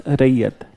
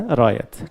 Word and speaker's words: Rayat: and western India was Rayat. Okay? So Rayat, but you know that Britishers were not able to pronounce it correctly. So Rayat, they are calling it as a Rayats.